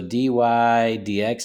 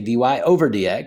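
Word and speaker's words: dy/dx: So dy dx, that's how you say that. You don't say dy over dx. Some people argue that. No, the proper way to say it is dy dx, the derivative of y with respect to x.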